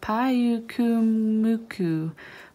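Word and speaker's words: Pyukumuku: It's a Payukumuku.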